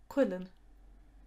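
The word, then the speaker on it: cuileann: one the plural is karthi karthi knowledge holly quillen a christmas wreath that you might hang in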